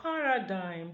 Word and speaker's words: paradigm: it becomes sign now in the word Paradigm the same thing happens because G becomes deleted when it occurs with nasal M at the word final position remember we said the